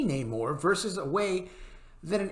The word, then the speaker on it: Namor: also discuss the way Neymar's name is pronounced in the film a recent clip from the film sees Huerta pronouncing Neymar's name Namor rather than the typical pronunciation of Neymar Moore explained anymore I